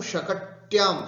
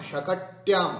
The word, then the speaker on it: शकट्यां: कृषकौ शकट्यां, शकट्यां शुद्ध उच्चारण, शकटी शकट शकट्यां, है ना, ऐसे शकट्यां याम।